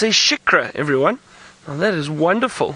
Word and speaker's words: Shikra: It's a Shikra, everyone.